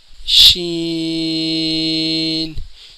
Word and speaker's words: ش: آواز نکلے گی، سین۔ شین، شین کے اوپر 3 نقطے ہوتے ہیں جس کا تلفظ یہی ہے کہ اس کے بھی اینڈ میں نون کی آواز نکلے گی۔ آگے بڑھتے ہیں۔ صاد۔